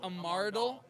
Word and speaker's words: Amardal: every episode, which is I feel like I always feel like I'm mispronouncing it. So Like Vandal and Amaro. so it's Amardal.